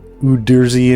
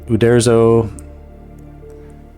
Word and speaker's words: Uderzo: of the cartoonist of the, how do they pronounce their names? Uderzi and Uberto or something like that? Artists. Uderzo.